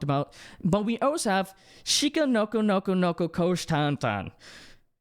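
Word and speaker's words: Shikanoko Nokonoko Koshitantan: Shika, did I say it right? Shika Noko Noko Noko Kosh Tan Tan. Right? Let me see. Shika Noko Noko Noko Kosh Tan Tan. There, yes.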